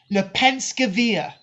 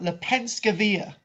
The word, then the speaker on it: Lepenski Vir: right um so the site is known as le penske via which is spelled l-e-p-e-n s-k-i of the next word v-i-l the penske via the penskeville it's along the danube danube river